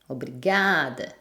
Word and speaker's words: obrigada: Par exemple, obrigado, obrigada. Vu que c'est l'avant-dernière syllabe qui est la syllabe forte, on entend peu la fin et on n'entend pratiquement pas si c'est masculin ou féminin.